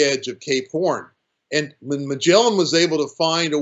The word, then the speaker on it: Magellan: area of chile was ferdinand magellan which is the english pronunciation of his name you'll find it pronunciated slightly different in portugal as well as in chile he sailed the victoria